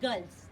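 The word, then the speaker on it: girls: Colony of गर्ल्स, colony of गर्ल्स, कुछ लोग गुल्स भी प्रोनाउंस करते हैं बट इट इज गर्ल्स।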